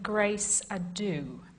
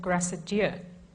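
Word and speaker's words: Grace Adieu: Well, as many people point out, particularly my mother, it ought to be the ladies of grace ado because it's supposedly an English place name. Not, I think, a terribly likely English pace name, but being an English pace name, it ought to have been anglicized, but I pronounce it as the ladies of Grassadure, which is completely wrong.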